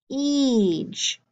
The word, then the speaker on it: siege: You do not hear the I. You have a long E sound, with an I.